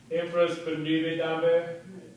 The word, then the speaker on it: infraspinatus: Infraspinatus.